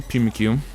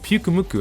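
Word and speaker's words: Pyukumuku: What the heck, Pukumuku? I was pronouncing this thing wrong this entire video, bro.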